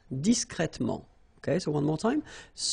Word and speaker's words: discret: hear the difference between the masculine okay you're pronouncing the T okay complet complet disc discret discret okay so one more time disc discret discret